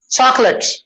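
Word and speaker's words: chocolate: ये जो ओ है साइलेंट है, चॉक को नहीं बोलना, चॉकलेट, चॉकलेट। कितने हो गए? 2 syllables only.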